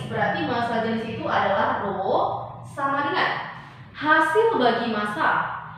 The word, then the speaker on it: rho: Berarti saya simbolkan seperti ini, massa jenis itu adalah rho. Bacanya ini adalah RHO. RHO, rho. Itu, massa jenis itu adalah rho.